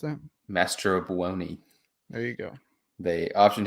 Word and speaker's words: Mastrobuoni: Sorry, how do you pronounce that? Mastrobuoni.